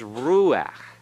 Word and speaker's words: Ruach: this is rule now notice I said Rua with an accent on the Rue the AK is tacked